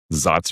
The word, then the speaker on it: Saaz: So a lot of the double, I mean, Satz or Satz or however you want to pronounce it.